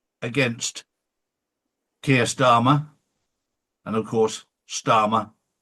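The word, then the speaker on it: Starmer: And of course, Starma rhymes with karma.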